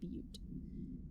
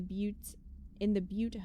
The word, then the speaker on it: Butte: A spate of disappearances was traced to a home in the city of, I think it's actually pronounced Butte, where Bureau agents discovered a translocative light switch cord.